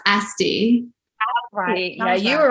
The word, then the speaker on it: Asti: for the love of god correct me it's pronounced asti yeah you were right yeah you're right okay